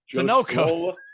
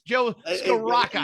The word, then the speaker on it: Scrocca: Joe Sunoco. Yeah. So there's no L there. It's Joe Scrocca.